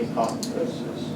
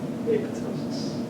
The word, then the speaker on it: apoptosis: spelled it that way then the p is silent of course and then in Greek the p is silent APO Tois P if you go out in the research world and someone calls it apoptosis a person has not been studying apotosis very long they don't know how to pronounce it